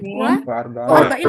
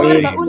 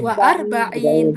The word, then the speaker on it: وأربعين: Wa arba'in apa warbaun teman-teman? وأربعين Bagus. Wa arba'in.